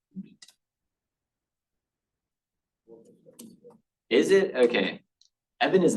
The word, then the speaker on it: Vite: So that's why it's pronounced beat.